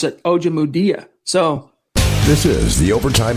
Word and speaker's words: Ojemudia: How do you pronounce his name? Ojemudia.